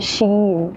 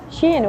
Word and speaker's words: Shein: It's the Shein. It's very funny because Shein in French is China, but it's written like a different way. But the pronunciation is the same.